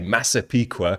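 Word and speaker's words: Massapequa: of that place and I even had to look up how to pronounce it properly it's a really cool word to say masaa I really like that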